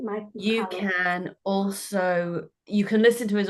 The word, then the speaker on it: Michalowicz: His name is Mike Michalowicz. That's how you say it, Mike Michalowicz.